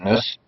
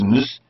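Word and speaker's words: Njus: Now, it's interesting when I read that article by Elliot Nuss. No, it's Nuss. The J is silent.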